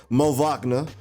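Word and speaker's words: Moritz Wagner: this i got to say his name correctly mo wachna and troy brown from the wizards for um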